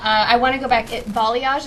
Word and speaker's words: balayage: Balayage, is that how you say it? Yeah. I've never heard it. I've always seen it, in text. I haven't heard it. I'm like, oh, that's how you say that.